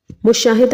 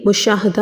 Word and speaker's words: مشاہدہ: صحیح لفظ ہے منتخب۔ مشاہدہ نہیں ہوتا بلکہ مشاہدہ ہوتا ہے۔ احمد نہیں ہوتا، احمد